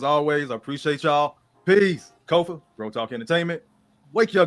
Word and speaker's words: Kofa: I am your host, Kofa, K-O-F-A, not coffee, not Kufu, not Kofi, or any variation thereof.